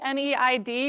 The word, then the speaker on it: NEID: The instrument looks like NEID, N-E-I-D, but it is actually pronounced NEID, and that is definitely my poor white person's pronunciation. This is a Thana Otham word, and Kitt Peak is